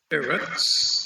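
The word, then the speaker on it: ארץ: In the singular, I see the first syllable has an accent, but in the plural, the accent's on the last syllable.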